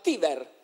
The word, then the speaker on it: Tiber: Pertanto la parola del fiume Tiber in realtà si diceva Tiver.